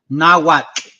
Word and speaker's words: Nahuatl: I do want to say that it's called Nahuatl. Okay, Quetzalcoatl, not Quetzalcoatl.